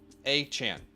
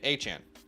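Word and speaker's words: Achane: to be pronounced Devon a Chan okay achan no chain it's Chan not chain Chan achan got it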